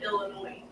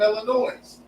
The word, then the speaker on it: Illinois: he's the one from Illinois no it wasn't he's from Kentucky I was born in Illinois and the S is silent well you tell them